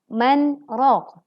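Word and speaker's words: مَنْ رَاقٍ: Selanjutnya adalah bacaan saktah di lafadz man raq. Bagaimana cara bacanya? Wa qila man raq. Perhatikan teman-teman, saat membaca wa qila man raq ada kesalahan, yaitu menghilangkan atau melupakan sifat tawassut atau bainiyah pada huruf nun.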